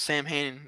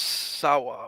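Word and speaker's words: Samhain: Even though if you look it up, it's not pronounced Sam Hain. I mean, that's how it's written. It's pronounced Sawa or whatever.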